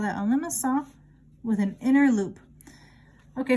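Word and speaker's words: limaçon: this is called a limacon. L-I-M-A-C-O-N, and that's French. It's got a little French accent on the bottom. Limacon.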